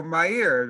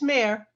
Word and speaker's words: Mair: So Mair, am I pronouncing that right? M-A-I-R, go ahead. It's Mayor. Mayor.